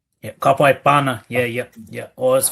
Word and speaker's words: Bhana: How's it How's it pronounced? Yeah. Kapana.